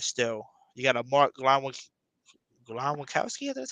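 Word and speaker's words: Glowinski: You got a Mark Glowakowski, that's how you say his name is.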